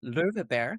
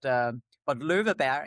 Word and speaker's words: Löweberg: So Anna Maria Löweberg, which is how you pronounce it in English, I guess, but Löweberg in Swedish.